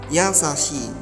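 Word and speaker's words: やさしい: Ini i-nya double, dibacanya agak panjang, 2 harokat. Yasashi.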